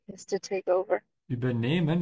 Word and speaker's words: übernehmen: Übernehmen, you can see there's a dash under the E to help you pronounce and to know that the emphasis is on the E. You can also know that because there's an H after it, so the E has to be a bit longer.